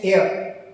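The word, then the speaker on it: heir: जैसे an hour, इसमें H silent है तो बोलेंगे आवर, तो an hour, an honest person, N एयर उत्तराधिकारी, यहाँ पे एच साइलेंट है।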